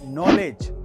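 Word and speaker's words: knowledge: Number 1, अगर किसी word में जी से पहले डी आए तो उसमें डी साइलेंट रहता है, जैसे कि ब्रिज, जज, नॉलेज।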